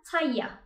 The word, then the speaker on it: talla: Beden Taya. Talla diye yazılıyor. İki tane L yan yana gelirse Taya diye okunuyor.